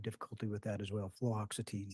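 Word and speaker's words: fluoxetine: flatin I have difficulty with that as well fluoxitine fluoxitine thank you yes I'll say it wrong 10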